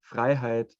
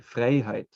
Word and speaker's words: Freiheit: amazing yeah it is some people um uh pronounce the word freiheit like frey height because you know it's an e and an i and uh so it's a german thing to say instead of a okay all right i